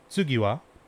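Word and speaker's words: 次は: japanese in english uh the symbol for tu can also be written out as or pronounced as tsu and ha can also be written out and pronounced as wah so this first word would actually be tsugiwa or this first phrase would be tsugiwa meaning in japanese uh essentially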